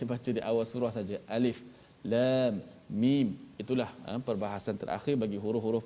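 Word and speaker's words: الم: Alif lam mim bukan alam, tapi waktu jumpa surah Al-Fil kena baca alam lah.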